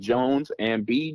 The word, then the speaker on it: Joanz & B: fans so that's again Jones and b j o a n z and b3e not pronounced B3 e just B okay great yes sir